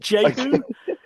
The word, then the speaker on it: jehü: Um, can you can you can you say your new project name just so I pronounce it correctly? Is it Ju?